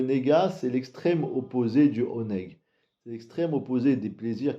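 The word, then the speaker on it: עונג: On a en hébreu le mot qui s'appelle oneg, qui veut dire les plaisirs du Gan Eden. Ça s'écrit Ain Nun Gimel, oneg.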